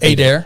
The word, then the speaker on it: Adair: Adair. Yeah, that's right. Adair. How was I saying Adair. Adair? Yeah, Adair. I dare you.